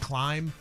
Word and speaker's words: climb: I know it's probably in the words origin that it was in there like the silent B and climb.